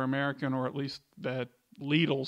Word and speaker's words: Lidl: So I've heard people pronounce it Lidl, Lidl, Lidl. I mean, we just call it Lidl.